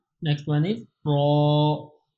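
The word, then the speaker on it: ر: next one is ra ra pronounce with heavy sound z z SE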